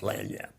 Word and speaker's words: lagniappe: It's French, the French spelling. It's Cajun. Well, yeah, so, It's got a flavor of French in it. yeah. Lagniappe, Lagniappe. But it's pronounced Lanyap, yeah.